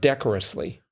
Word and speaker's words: decorously: it's actually it's pronounced decorously I think I think the emphasis comes on that first syllable decorum there is decorum